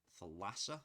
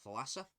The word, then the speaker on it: Thalassa: We've got the Thalassa, I believe that's pronounced. It's one of those Greek names. Yep, so Thalassa. Do you know what?